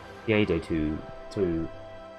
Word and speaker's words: Veadotube: Because it's kind of hard to pronounce. It's like Veadotube. Veado. Ah, there it is. Veadotube Mini.